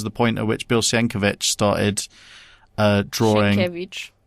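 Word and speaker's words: Sienkiewicz: point at which Bill Siankovic started uh drawing how it shankovich. I thought he I think he pronounces it.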